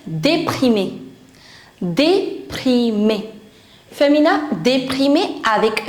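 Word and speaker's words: déprimée: For that you'll say déprimé. Déprimé. Féminin, déprimé avec E. We write E but we don't pronounce it. The pronunciation is same.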